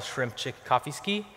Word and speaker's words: Szymczykowski: My name is Szymczykowski, and it's pronounced more or less like you see those emoji up there, like Szymczykowski. If you get that, it's close enough.